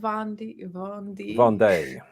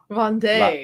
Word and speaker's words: Vendée: Vendée. Vendée. La Vendée. That's what you do when there's two E's and one. The first one has an accent. Day.